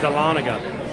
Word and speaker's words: Dahlonega: do you say that that's dahlonega at least that's how we say it so what's that how